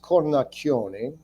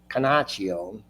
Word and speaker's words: Cornacchione: So I have my real last name is Cornacchione, CornacchioneQuastuvwxyz. And in Ohio, they pronounce it Canacchione.